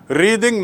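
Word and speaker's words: wreathe: एंड टू रिद माने, उच्चारण देख लीजिए, टू रिद, जब वो क्रिया होती है तो रिद, रिद माने गूंथना, और रेथ माने फ्लावर का गुच्छा जो गोलाकार रूप में सामान्यतया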